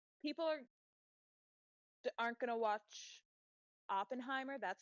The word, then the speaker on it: Oppenheimer: out there like people are aren't gonna watch Oppenheimer that's how you say it right yeah Oppenheimer